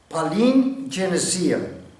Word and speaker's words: palingenesia: Esa palabra proviene de una raíz griega que se pronuncia palingenesia.